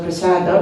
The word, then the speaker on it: prasadam: right but for example most devotees say prasadam they're going to go and underpass Adam but it's supposed to be prasada it's already the objective